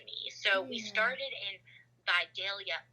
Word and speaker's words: Vidalia: so we started in vidalia vadaya georgia as it's pronounced to the locals which is like the